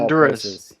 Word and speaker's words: Honduras: Yes, you are in Honduras, of all Honduras. places. Or as they actually say it here, Honduras. Honduras. They don't pronounce the H in Spanish.